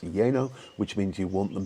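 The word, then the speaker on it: lleno: or you can say yeno uh that's l l n o which is pronounced yeno which means you want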